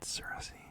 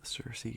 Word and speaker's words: Circe: I only just discovered it's pronounced Cersei like the Game of Thrones character because I thought it was cerse or serious seriously or something I don't know whatever King um sarasi apparently uh and it's